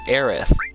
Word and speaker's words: Aerith: that stupid S and give her the proper pronunciation for her name, which is Aerith. It is the official and proper spelling and pronunciation.